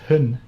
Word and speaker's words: hund: don't pronounce the D.